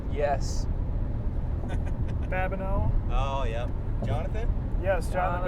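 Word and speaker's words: Babineaux: Rhymes with no. Yes. Babineau.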